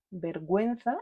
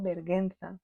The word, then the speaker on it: vergüenza: I tenemos que mirar si la u no tiene puntitos no suena pero si tiene dos puntitos es una forma de